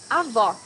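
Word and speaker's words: avó: hardest worst pronouncing Portuguese Avo grandmother you need to hear the sound of the last o in the syllable it should be an opener as the same Portuguese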